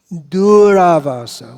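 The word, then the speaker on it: durāvāsa: cowherd boy friend mood another version of this name is duravasa when the u is not a short u but it's a long o so dura means difficult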